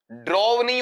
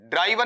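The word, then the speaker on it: driven: ड्रॉव नहीं होगा। क्या होगा? ड्रव। और बेटा तीसरे वाला पार्ट लेता हूं। ये मेरे पास में वहां ड्राइवन नहीं ड्रिवन।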